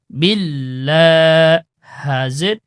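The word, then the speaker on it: بِاللَّهِ: আউ আউজু আউজু তারপর বালাম জের বিল লাম খালা জবর লা বিল্লা হাজের হি বিল্লাহি বিল্লাহি হি ওকে তারপর মি মিম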